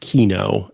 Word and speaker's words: Kino: category the first is I believe it's pronounced Kino um although it could be Kyo I'm not I'm not